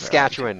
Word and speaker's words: Saskatchewan: Or nearly a perfect Saskatchewan rectangle? is how you pronounce it. It's a nearly perfect rectangle. Saskatchewan.